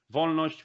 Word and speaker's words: Wolność: with pronunciation which means that that's v we don't have v letter in alphabet is v von neusch which is basically liberty